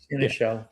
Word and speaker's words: seneschal: Michael, how do I pronounce this? Seneschal? Seneschal? Yeah, sure. Seneschal.